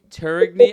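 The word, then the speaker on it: Tourigny: Utah's head coach, Andre Turigny. I really hope I pronounced that right.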